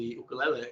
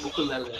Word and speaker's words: ukulele: Its nickname, the ukulele. But we definitely want to encourage that you pronounce it properly. So it's uku. Everyone say uku. And then ukulele.